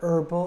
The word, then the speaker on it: herbal: so an hour an herbal drink an honest person all three of these our herbal and honest start with the letter H except it's a silent h and so we have